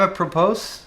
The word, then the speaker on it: apropos: I am a propose. I win. Apropos. I'm a propos. I am a propose. Is that how I said it? That's weird. I definitely pronounced the S at the end.